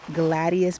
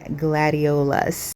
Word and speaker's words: gladiolus: along the fence, and then these are the gladius bulbs. Maybe I'm not saying that right, but it's a really, really beautiful flower along. Okay, so the correct pronunciation is really gladiolus.